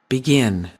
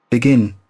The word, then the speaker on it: begin: it's always clearer actually begin begin begin begin okay so it's also the stress here the stress sorry here is on the second part so again if you